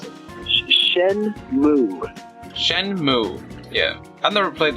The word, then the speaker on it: Shenmue: Well, seeing that you're a big fan of Shenmue, how do we pronounce it? Shenmue.